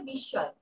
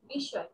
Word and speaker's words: বিস্ময়: উচ্চারণটা হবে বিস্ময়, বিস্ময়।